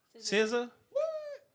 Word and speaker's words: SZA: SZA.